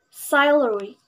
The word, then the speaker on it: salary: word number nine salary it is pronounced salary this word has the main stress are the primary stress at the beginning of this word the main stress is